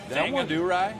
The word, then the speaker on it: Thangadurai: How was that name pronounced? Tangadurai.